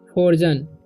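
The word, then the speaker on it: frozen: A snake, फ्रोजन, फ्रोजन, ठीक है, इसे पढ़ेंगे फ्रो, एफ आर ओ से फ्रो जेन, फ्रोजन, ठीक है। ई का उच्चारण यहाँ पर अ होगा।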